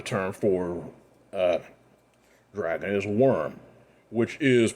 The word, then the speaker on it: wyrm: of course another term for uh dragon is worm which is pronounced w-y-r-m and uh you also have to